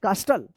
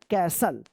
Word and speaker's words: castle: क्या पढ़ते होंगे आप, कास्टल या कैस्टल, नहीं, इसका सही उच्चारण होगा कैसल।